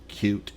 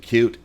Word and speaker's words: Qt: Most of the people in the Qt community pronounce it Qt. I pronounce it Qt. I don't think there's any particularly thing cute about it. It's a very powerful and useful framework, but Qt I think is more precise because those are the letters.